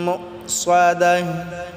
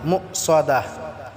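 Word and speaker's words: مؤصدة: মুসাদাহ, এখানে মুসাদা বললে হবে না, মুসাদাহ। সোয়াদটাকে আমরা ভালো করে সোয়াদ উচ্চারণ করব, একটু মোটা করে।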